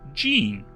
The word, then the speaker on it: Gene: A bit of a random nugget to mention, but my name is pronounced Gene, like the pants.